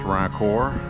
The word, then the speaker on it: Rancourt: David Rancourt River Preserve, which in French is pronounced Rancourt.